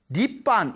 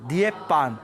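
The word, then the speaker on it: 涅槃: 한글 발음으로 읽으면 반인데 중국 발음으로 열반을 니반 이렇게 발음이 됩니다 니반 그러니까 니하고 발음이 같죠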